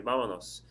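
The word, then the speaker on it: vámonos: show she might say vamonos now when you do that it's three syllables the stress of the word is on the first syllable because the stress is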